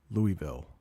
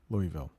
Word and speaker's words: Louisville: haven't heard of that Louisville yes Louisville I know there's an s in it but it is Louisville Louisville do we have anything